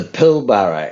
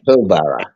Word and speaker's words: Pilbara: It's called the Pilbara. It's spelled Pilbrough, right? Oh, almost like Marlboro. Okay. Yeah, Pilbara.